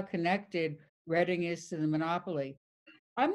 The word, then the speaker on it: Reading: In those days, we used to pronounce Reading Railroad as in reading a book. I didn't know there was a town by that name. I never even remotely considered that someday I would live there, that the people there would pronounce it Reading, different from the way we did, that the trains would